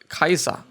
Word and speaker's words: Caesar: Caesar was actually pronounced Kaiser and it's a origin of the German word Kaiser and Russian Ziza Aziza